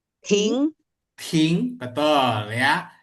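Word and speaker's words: 停: ting, betul ya. Jadi bukan ting, kalau ting nada satu artinya mendengar. Tapi kalau ting nada dua artinya berhenti.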